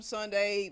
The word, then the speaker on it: sundae: opposite of shroom also sunday is spelled s UND AE like an ice cream sundae instead of with an a why at the end like the day sunday and also even though palm